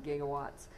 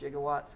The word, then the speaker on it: gigawatts: plants would measure in gigawatts, which also can be pronounced gigawatts, which sounds ridiculous, but it's still true.